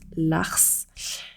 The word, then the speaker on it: ARCE: vous pouvez choisir l'ARCE, qui se prononce l'ARS, qui est un capital qui représente 60% de vos droits.